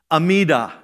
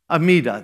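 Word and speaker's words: Amidah: is spelled a m d ah or it's pronounced amida amida there it is but what was it was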